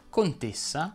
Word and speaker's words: contessa: parola fa eccezione cresima anche le desinenze in essa richiedono una pronuncia chiusa si dice stessa lessa leonessa dottoressa baronessa contessa e così via a proposito si